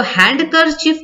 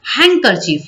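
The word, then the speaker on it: handkerchief: अच्छा, इसको हैंडकरचीफ नहीं पढ़ना है, ठीक है, हैंकरचीफ। यहाँ पर जो डी है ना, इसको साइलेंट कर दिया जाता है, ठीक है, यही इसका सही प्रोनाउंसिएशन है।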